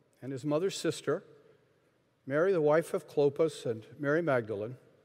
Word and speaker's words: Clopas: sister, Mary the wife of Clopas, and Mary Magdalene. So, Cleopas, not to be confused with Clopas, which is a Hebrew Aramaic word, this one a "Mary the wife of Clopas, and Mary Magdalene." Clopas is often a shortened